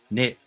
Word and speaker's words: knit: Knack, nave, knead, knee, kneel, knew, knickers, knife, knight, knit, knob, knock, null, not knowledge, knuckle. Why did we have to put a K in front of any of those words and not say it at all?